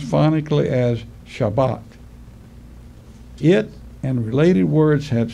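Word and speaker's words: שבת: concordance is number 76 76 and it is pronounced phonic Lee as shabbat it and related words have similar definitions an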